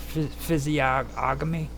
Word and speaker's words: physiognomy: But what it basically is this physiognomy, not ognomy.